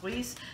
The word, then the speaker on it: Weis: I always call it Weis, but I believe it's pronounced Weis.